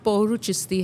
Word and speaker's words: Pouruchisty: चाहती है पहले तो लोगों को बताए हम प्रोनाउंस कैसे करेंगे पूरो ओके मेरा नाम पौर चिस्ती है लेकिन ए बडी कॉल्स मी पौर है